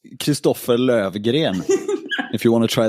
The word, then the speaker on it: Christofer Lövgren: Yeah, so it's actually pronounced Christofer Lövgren.